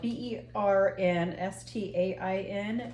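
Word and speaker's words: Berenstain: differently no did you know that right now it's spelled b e r n St t a i n and it used to be spelled b e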